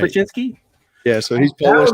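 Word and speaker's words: Sobociński: So Sobocinski, maybe something like that. He's Polish. Yeah, that's right. Sobocinski.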